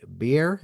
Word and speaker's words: Bier: the Cato Institute, David Bier. Am I pronouncing that correctly? That's right, beer.